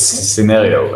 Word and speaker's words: Synereo: it called scenario or I think I even pronounced it wrong again so it's it's scenario and then the name comes from sin which